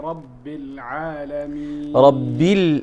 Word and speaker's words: رب العالمين: الحمد لله رب العالمين. ربيل وليس ربيل، ليس ربيل وإنما رب العالمين.